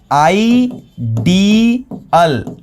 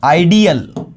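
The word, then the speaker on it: ideal: इसका प्रोनाउंसिएशन देखो, आइडल, आइडल। लेकिन ये है आइडियल, ये क्या है? आइडियल, आइडियल।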